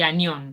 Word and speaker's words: anión: Es catión y anión, con acento en la Sí, O. Acá no está, pero lleva acento, ¿sí?